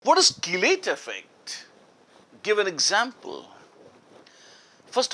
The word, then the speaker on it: chelate: Some people call it chelate. No, you're not making a besan ka chila or something. It's not chelate, it's chelate. The correct pronunciation is chelate.